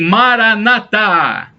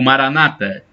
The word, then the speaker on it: maranata: é bom para nós e maranata ou maranata a acentuação na última sílaba é falada pelos católicos e fala com acentuação na última sílaba são os protestantes mas o significado é